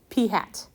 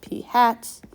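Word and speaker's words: p̂: very similar to p it is AP with a hat P hat and that's how we would pronounce that P hat X bar all right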